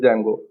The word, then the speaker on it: Django: So here D is silent, while pronunciation you have to call it as Django. What is this Django?